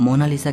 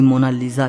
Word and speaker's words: Mona Lisa: सही स्पेलिंग यह है को इसे मोना लिसा कहता है तो कोई मोना लीजा कहता है लेकिन इटालियन में इसकी करेक्ट प्रनंसीएशन है मोना लीसा इसका मतलब होता है